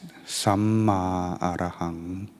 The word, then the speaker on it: Samma Arahang: It's pronounced as Samma Arahang.